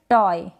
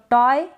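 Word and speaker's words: toy: Spellings देखते हैं, जैसे कि ये है टॉय, तो टॉय या टॉय, ई भी लिखा है मैंने, य भी लिखा है, तो दोनों तरीके से आप प्रोनाउंस कर सकते हैं, दोनों ही करेक्ट है।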